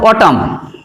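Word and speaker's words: autumn: এরপরে দেখো এন, উদাহরণ দিচ্ছি দেখো অটাম, আমরা বলি না যে অটাম, এমন নয়, অটাম অর্থাৎ ময়ে শেষ হচ্ছে এম এ, এনটা তারপরেও থাকছে।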